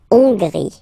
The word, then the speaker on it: Hongrie: So remember, H doesn't exist, so you don't pronounce it. So it starts with O-N, on, on. And then gris, gris. Final E, not pronounced. La Hongrie.